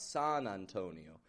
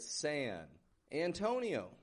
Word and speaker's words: San Antonio: Again, modified wide A on San. Repeat that after me. Sayan. Sayan. Not a San. Not San Antonio, but San. Antonio. Another an in the beginning. Antonio. Antonio. However, the an isn't getting the stressed part in this word. The O in the middle is Antonio. That's when it goes up in pitch a little bit, gets kind of stronger, more stretched out. San Antonio.